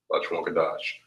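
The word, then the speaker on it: לשון הקודש: All right, this here is pronounced as La Shawan, and then the second word is pronounced as Kodash, La Shawan Kodash.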